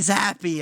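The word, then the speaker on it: Zappe: a team playing Bailey Zappi at quarterback. Wow. By the way, little tidbit, his name should be pronounced Zap, and I'm angry at reality.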